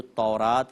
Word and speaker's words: تورات: یعنی وہ اوصاف بتائیے جو تورات یا توریت دونوں اس کے تلفظ ہیں، کہ توریت میں جو